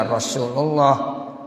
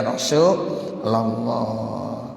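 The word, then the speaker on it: يا رسولَ الله: Rasulullah Ya Habiballah ya ada orang yang baca Ya Rasulullah salah Ya Habibullah salah ya Jadi kita yang ngaji ni biar paham Jadi kalau bacanya Ya Rasulallah banyak tuh kadang-kadang ada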